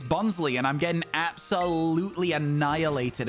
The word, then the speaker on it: Bonsly: of bons I say bons in the anime they say bonley I call it bons